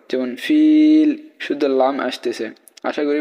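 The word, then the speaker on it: فيل: জের উচ্চারণ করবো না ফিল শুধু লামের উচ্চারণ নিয়ে আসবো কিন্তু জেরের উচ্চারণ করবো না যেমন ফিল শুধু লাম আসতেছে আশা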